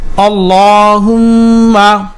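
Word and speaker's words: اللهم: আল্লাহুম্মা হামদা জবর লামে তাসসিদ আল লাম খারা জবর দুই ঠোট গোল করে মোটা করে উচ্চারণ করতে হবে আর পেশ মিমমে তাসদিদ ওয়াজিব গুন্না হুম মিম জবর মা। আল্লাহুম্মা আল্লাহুম্মা আল্লাহুম্মা হা আলিফ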